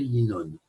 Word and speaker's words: Yinon: 10 sont les sphirotes et 126 est la valeur numérique de Yanin, plus le Vav, puisqu'il est prononcé Yinon.